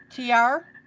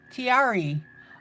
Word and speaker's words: Tiari: TR? Did I do that right? Tyar. Spell it phonetically for me. Is it TR or Ty-R? Like T-I-E, Ty-R. T, Tiari. Oh, 3 syllables, Tiari.